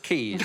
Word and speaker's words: Caius: Oh, are you also the head of Caius College or whatever? I think you'll find it's pronounced Keys.